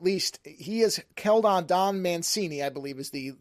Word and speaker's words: Mancini: a whole at least he is Kellon Don Mancini I believe is the how you pronounce the last name is the person who